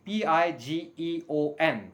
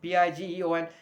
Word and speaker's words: pigeon: known as pidgin it is pidgin and please pronounce it the correct way p i g e o n p i g e o n a lot of people pronounce it as pidgeon